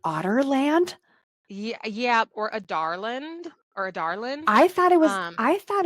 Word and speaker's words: Adarlan: as the king of I've heard this pronounced a few different ways, but the way that I have been reading it because this was the consensus of I want to say Adarland because my name is Adara, but that's not the